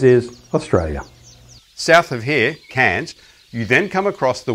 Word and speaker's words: Cairns: Remember, written like this, but pronounced Cairns.